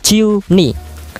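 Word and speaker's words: 十二: Kemudian angka 12 ya sama juga pengucapannya adalah ciu ni.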